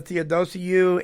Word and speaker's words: Theodosiou: When we come back, more with my guest, Theodosiou. And am I pronouncing that correct?